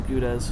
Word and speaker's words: Gouda: Because I know they carry a lot of the Goudas. Yeah. So interesting. Now, for those of you who don't know, if you truly are of the Dutch persuasion, you would pronounce it Gouda.